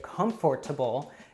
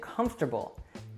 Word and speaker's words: comfortable: often becomes interesting and it's pretty rare that you'll hear a native say comfortable usually we just say comfortable alright so tendency number